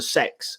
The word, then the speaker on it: CeX: square across the world from cex which apparently is pronounced sex but i'm not going